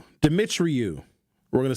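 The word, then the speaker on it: Dumitriu: effects on infants, said Danny, I got to pronounce his name right, Dimitriou. We're going to say Dimitriou, a pediatrician and neuroscientist at Columbia University and chair of an ongoing study on pandemic newborn babies.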